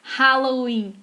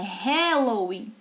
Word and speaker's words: Halloween: Assim como não é Halloween, é Halloween. Tá?